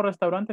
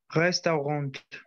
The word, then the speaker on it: Restaurant: No, me pronuncia de nuevo restaurante nada más. Restaurant. Resto. La A y la U es una O en francés.